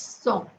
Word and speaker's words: cent: aloud number 100 is song see it's written like scent but it's pronounced like so okay let me write